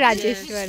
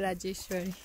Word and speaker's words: Rajeswar: again what's my name only rajeswar not Raj rajeswar okay girl now we